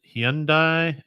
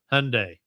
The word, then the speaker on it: Hyundai: Second place for me goes to the WRC teams of Ford and, depending on where you're from and how you pronounce it, Hyundai, and Hyundai, as we say over here.